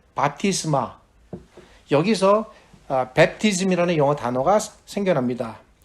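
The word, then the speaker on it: βάπτισμα: 세례에 해당되는 신약 성경의 헬라어 발음은 바티스마.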